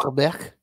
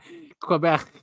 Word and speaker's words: Quebec: Also, I think it's pronounced Quebec. Quebec. You get really mad if you don't pronounce it right.